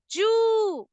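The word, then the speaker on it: 十: 10 को जापानीज में बोलते हैं जू। देखिए इसमें लॉन्ग साउंड है। अब लॉन्ग साउंड को डिनोट करने के लिए मैंने यहाँ पे हिंदी में डैश कर दिया है, ताकि देखिए जैसे अब मैंने जू लिखा है, ठीक है, अगर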